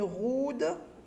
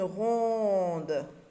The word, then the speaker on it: ronde: On ne dit pas une roude, on dit une ronde.